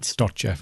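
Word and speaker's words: Dobtcheff: Dobchev, I think you pronounce it.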